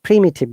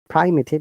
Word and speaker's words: primitive: So primitive, guys. Remember, it is not primitive, it is primitive. Prim is prime, but primitive.